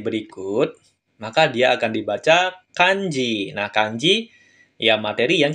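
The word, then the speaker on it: 漢字: digabung dengan kanji berikut maka dia akan dibaca kanji nah kanji Ya materi yang kita pelajari hari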